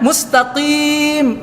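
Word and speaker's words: مستقيم: dia mesti mufaroqoh coba ihdinashirotolmustakim dibacanya Nunun padahal itu kan memang ujungnya mustaqim mim dibaca nyanun mustaqim maka buat padat salat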